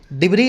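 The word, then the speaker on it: debris: की इसके मलवे की डिबरी आप समझते होंगे मलवे के लिए रैकेज के लिए यूज होने वाला वर्ड है इसका एस साइलेंट होता है बोला जाता है डिब्र लिखा जाता है डिब्र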